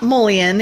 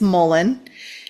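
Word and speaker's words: mullein: So it's not Mullion, it's Mullen.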